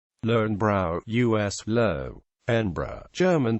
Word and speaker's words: Löwenbräu: Larn brow us low embra German pronunciation is a BRI in Munich owned by